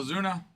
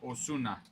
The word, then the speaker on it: Osuna: Marcela Azuna. Marcel Azuna. Oz. My goodness. I got to actually pronounce it like it's meant to, not an American accent. Marcel Osuna.